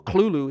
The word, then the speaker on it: Cthulhu: And at the same time Deeon's design is based off Cthulhu or Clulu if you want to pronounce it like how it's supposed to be cuz you're supposed to cough it out.